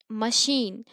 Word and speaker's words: machine: to choose your symbols so here we are pronouncing machine so here c h we are pronouncing sha here chain we are